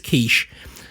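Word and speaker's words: Keech: interviewed a woman who he called Mrs quiche uh not spelled the same as not the quiche that you write that you eat yeah spelled with a K and two e's right she reported receiving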